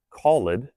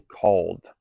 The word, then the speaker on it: called: We wouldn't say callid. We would use the silent e and say called.